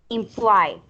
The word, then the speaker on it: imply: You use the verb imply, right? Implicar. When you pronounce it at the end, the letter Y, it's I. It sounds like I.